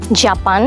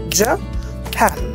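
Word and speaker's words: Japan: স্ক্রিনেও খেয়াল করি, ইস জাপান। জাপান বলি, জাপান তাই খান। আসলে এটা উচ্চারণ হবে জ, এখানে কয়টা সিলেবল আছে মা দেখো তো, জ ফ্যান, জ ফ্যান, এখানে ফ্যানটা জোরে হবে, জাপান বলো তো, জাপান।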